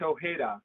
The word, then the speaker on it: Ojeda: it's ojeda oh yeah it's uh it's you know it's spanish uh but you know the the is catalan so yeah we get a little bit of a mix i see okay yeah then being spanish the j is pronounced as uh h and so you got